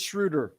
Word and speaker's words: Schröder: so visible, whether it's Dennis Schroeder or is it Schröder? Is it Schröder? It's Schröder. It's Schröder, right?